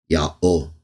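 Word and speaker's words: יהוה: The best evidence is telling us Yod, He, Wah and Yod, He, Wah, He are pronounced the same way. Ya'ol.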